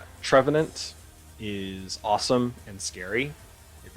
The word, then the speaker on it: Trevenant: Trevenant. Trevenant. Okay. I was gonna say Trevenant, but there's no tree.